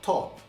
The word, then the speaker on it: top: A palavra top se pronuncia em inglês top.